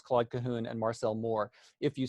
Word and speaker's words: Claude Cahun: So Lucy Schwob became, in French, her name is pronounced Claude Cahun. Most English speakers, especially in the United States, tend to pronounce it Claude Cahun, which is not phonetically correct in French, but